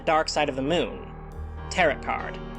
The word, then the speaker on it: tarot: Tarot card. I know how it's pronounced. Unlike me, I prefer it with the T.